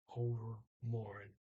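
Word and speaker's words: overmorgen: after tomorrow um and he does not pronounce the g he says over more um but he does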